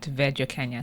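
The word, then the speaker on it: Werjo Kenya: My personal account is at Wairimu Nduba, and my music archival platform is at Verjo Kenya.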